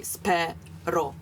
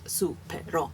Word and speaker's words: spero: and then spelled supero, but in Latin metrics, those syllables, it would be spero, not supero.